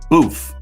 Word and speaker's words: Boof: about her former DJ booth boof is how you pronounce his name he was a DJ